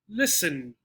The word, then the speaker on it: listen: no climb lamb nope the t castle listen sound like this castle listen not castle or listen which school hour sound